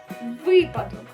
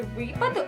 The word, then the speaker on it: випадок: наступний приклад в нас буде випадок нагло само на літеру ми не кажемо з вами випадок ось наприклад зі мною стався сьогодні такий випадок що мені навіть соромно